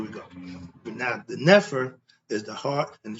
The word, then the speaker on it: Nefer: It's called the Nefer, N-E-F-E-R, closer to the pronunciation of what? Netter. Only letter changes the F to the T.